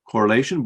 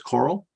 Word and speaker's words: CORREL: It's pronounced correlation, but it's abbreviated as coral.